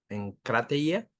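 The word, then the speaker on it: ἐγκράτεια: templanza la palabra templanza del griego encate en crate es con k y acento en la a en la primera en crate eh significa dominio propio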